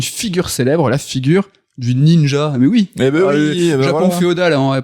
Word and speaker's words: ninja: Mais en lecture sino-japonaise, les kanji se prononcent Ninja.